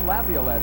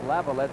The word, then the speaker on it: Laviolette: were calling him peter laviolette we find out that his family has two pronunciations and i guess he's going more with lavalier than laviolette so peter we're not